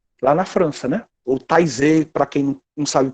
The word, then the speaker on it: Taizé: Ou Taizé, para quem não sabe pronunciar direito, pode ter lido já aquelas músicas bonitas de TZ.